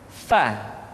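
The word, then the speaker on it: ف: Berikutnya pengucapan huruf fa, diucapkan dengan menyentuhkan ujung dua gigi seri kita bagian atas dengan bibir bawah bagian dalam. Fa. Seperti kita mengucapkan huruf F di dalam huruf Latin.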